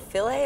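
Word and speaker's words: Philae: another big science story this year was about filet am I pronouncing that right yes um landing on a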